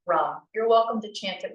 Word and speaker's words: ram: It's spelled R A M, but it's pronounced rum.